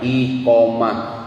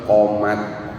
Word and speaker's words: iqomah: Dibacana mah angger komat. Sok komat. Padahal tulisanna Pak ngajeblag iqomah. Dibacanya apa? Komat. Salah tuh, pisan salahna gitu teh. Kenapa? 2 huruf Pak hilang tuh. Hiji i-nya hilang. 2 tamar butohna hilang, diganti make tak biasa jadi komat.